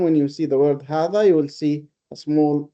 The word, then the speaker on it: هذا: But it is pronounced as 4 letters. It is pronounced as if there is another alif after the ha. So we don't say هذا, we say هذا with the same heaviness of the alif.